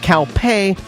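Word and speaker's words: Kaupe: this into your ears it's calpe spelled k-a-u-p-e and pronounced calpe like a stereotyped indian telling a bull he can't get into the club for free we closed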